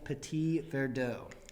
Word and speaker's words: Petit Verdot: i hope you enjoy 2017 estate red mountain petit verdot excellent thank you great pronunciation